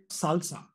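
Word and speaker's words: SLSA: out a mechanism called Salsa this is pronounced as salsa but it stands for supply chain levels for software artifacts now you can take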